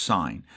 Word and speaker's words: sin: It says sin, but it's pronounced sign.